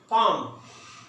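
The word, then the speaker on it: palm: इसी तरह ये देखिए नीचे पाम, पाम, पाम जो है यहां पे एल साइलेंट करेंगे।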